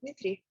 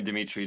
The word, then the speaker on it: Dmitry: so much and uh it's novel to hear my name pronounced um you know colloquially uh correct although no not that many people do that but you can call me dimitri too if you want but that's really thank